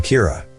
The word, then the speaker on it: Kira: person behind this and calls him Kira which is the Japanese pronunciation of the word killer some people are in